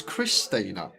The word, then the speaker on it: Xtina: It's probably maybe because X is a bit like a cross, and cross sounds a bit like Chris. So Chris Tina.